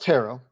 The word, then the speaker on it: Turo: Turo, though, sponsors this episode of the Locked On Bengals podcast. It's pronounced Taro.